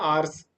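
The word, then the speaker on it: hour: वगैरह नहीं होता जैसे आवर्स होता है आर्स घंटे तो एच तो है उसमें उसको पढ़ते नहीं है आ ओ से स्टार्ट करते उसको नेस्ट है तो ऑनेस्ट बोलते हैं उसको तो इसमें ऐसा साइलेंट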